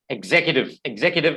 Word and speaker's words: executive: pronounce in two ways actually i think executive executive is actually the right pronunciation okay just a minute exit so executive